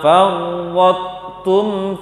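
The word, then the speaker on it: فَرَّطْتُمْ: Baca to yang tebal tanpa qalqalah, kemudian baca tu-nya. Bacanya wa min qablu ma farrattum fi Yusuf. Itu dia. Farrattum. Jangan gabung kita langsung sehingga menghilangkan to, tidak boleh.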